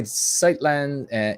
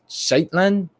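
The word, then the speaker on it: Shetland: ninja guinea points says sorry sightland is oh it's shaitlan before it was handed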